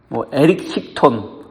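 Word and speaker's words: Erysichthon: 바로 에리스크톤에 관한 이야기입니다. 에리스크톤 이렇게 발음하는데, 에리스크톤은 데메테르 여신이 다스리는 땅의 한 부분을 다스리는 왕이었습니다.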